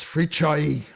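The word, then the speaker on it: Fricsay: one this is feren's free choi and this illustrates another double letter cs so the cs is pronounced as cha which is another one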